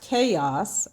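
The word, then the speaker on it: K.O.S.: b group named k-o-s stands for kansas city original sounds but pronounced chaos okay y'all looked at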